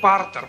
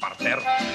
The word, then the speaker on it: партер: статуи а статуи стоят А если вы в театр придёте на пример вас не пропустят в партер пожалуйте в партер вас не пропустят в